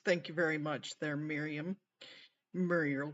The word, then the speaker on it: Mirjam: Yes, it's Miriam. It's spelled Mirjam, and we call her Muriel only because it's just funny.